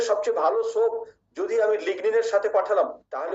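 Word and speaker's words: lignin: এখানে অনেক বন্ধুরা একটু ভুল করেন, তারা এনটাকে পরের এনটাকে লয়ের মতো উচ্চারণ করে লিন বলেন, লিগলিন বলেন, স্যাপোলিন বলেন। বন্ধুরা না, লিগনিন, স্যাপোনিন।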